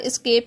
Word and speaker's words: Esc: उसके बाद एस्केप की है, ESC प्रोनाउंस इसको करेंगे एस्केप की।